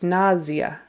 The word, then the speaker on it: nausea: word in English um actually it's really pronounced nazia with more of a z na and the primary accent is on the first syllable NAIA NAIA so even